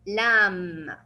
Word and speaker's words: lamb: of the word, then you will not pronounce the B and it will be silent. And we will stop only on the M. It will be lamb.